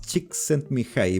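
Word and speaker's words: Csikszentmihalyi: exactamente cómo se pronunciaba es muy difícil de pronunciar pero es Chick sent me High para poder eh acordarme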